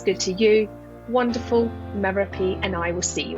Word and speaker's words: Merope: Well, my name's Merope, rhymes with therapy, Greek name, bit odd, but I was born in the 70s and it made a lot of sense at the time.